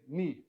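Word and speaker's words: νι: look like in English it's not a v it is a knee not a v knee and this is the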